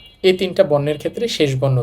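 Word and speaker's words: 땅: তো ইউং এর শেষ বর্ণ হচ্ছে অং।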